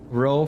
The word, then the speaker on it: row: Row for argument is pronounced the same as rowdy.